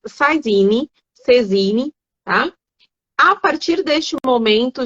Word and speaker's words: saisine: tenho pelo princípio de cesine ou saisine que se escreve né mas é um princípio francês Então se diz saisine tá a partir deste